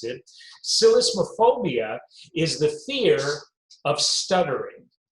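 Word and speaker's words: psellismophobia: why i had to really think before i pronounced it silicophobia is the fear of stuttering what do you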